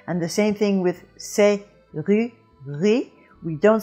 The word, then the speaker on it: serrurerie: And if you put it in there, you have serrurerie, and really that is pretty hard to say. But when it's dropped, it's serrurerie, serrurerie. Now, in the dropping of it, you do end up with 2 R's coming together. And when you have 2 R's coming together, it is a little bit of a problem. You don't say r, and you don't say one long R.